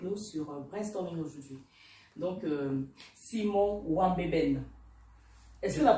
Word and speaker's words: Simon Nwanbeben: Donc, Simon Wambeben. Est-ce que la prononciation est bonne?